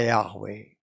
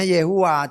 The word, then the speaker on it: Yahweh: Memang seolah-olah memang kalau ditulisnya dengan bantuan huruf-huruf vokal itu dibacanya Yehua. Tetapi kalau dia baca Yehua enggak cocok dengan Yahwe, dengan haleluya. Haleluyeh enggak bisa.